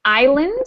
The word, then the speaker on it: island: us a good example Island where the S makes no no sound um the other example